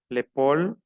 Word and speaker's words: épaule: es la nuca, l'épaule, la A y la U se pronuncia O, l'épaule, attendez un moment.